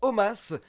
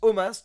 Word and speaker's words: Omos: Je précise encore une fois pour tous ceux qui me posent la question que je prononce Omos car la WWE a expliqué que ça se prononce Omos tout simplement.